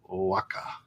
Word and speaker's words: Oaxaca: that today belongs to the Mexican state of Oaxaca. Okay, Oaxaca. That's how you say it. Oaxaca. Is that the they have a pronunciation guide here for you.